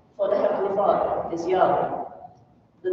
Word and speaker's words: Yahweh: But as represented here by these four characters, this is pronounced Yahweh by the Hebrew-speaking people.